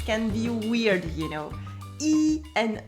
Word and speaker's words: y: the word e is a pronoun it's always pronounced e that's the easy part it is used to